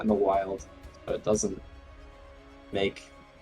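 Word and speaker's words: Wyld: So it's just pronounced wild. But you know we're not in the wild.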